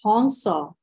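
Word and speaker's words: हंस: Hansa, pronounced Hongsa, are two sacred Sanskrit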